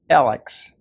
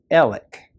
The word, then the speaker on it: Alec: down and see that my name is spelled A-L-E-X, and you will conclude justifiably that it should be pronounced Alex. But you say your name however your mother pronounced it, and my mother said Alec. Over the course of my life, I came to realize that people from certain areas pronounce this name in this way, people from Middle Georgia and Western North Carolina in particular.